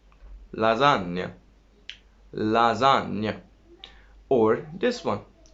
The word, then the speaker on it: lasagna: Well, G, I said, is affecting on N. What is the effect? It makes N beautiful. How does it make it beautiful?